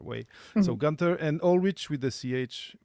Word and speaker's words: Ohlrich: Gunther and Ulrich with the ch pronounced at the Yes.